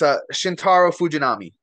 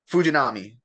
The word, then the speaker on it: Shintaro Fujinami: Can you pronounce this name? Because I can't. Oh yeah, it's Shintaro Fujinami. Fuji. He's Fuji. No another what? Fujinami.